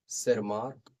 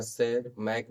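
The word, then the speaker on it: Tschermak: विशेष प्रकार के वैज्ञानिक शेरमार्क, शेर मार्क या सेरमैक भी बोल सकते हो। प्रोनाउंस ठीक से नहीं किया जाता।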